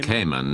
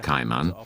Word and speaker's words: Cayman: It's actually Cayman, not Cayman. That's why we use the English spelling on the lettering at the back. That way it stays, Cayman.